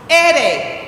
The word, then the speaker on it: ere: In Spanish, the letter R is pronounced ere.